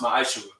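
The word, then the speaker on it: מעשר: Means 10th in Hebrew and it's pronounced ma'ashura.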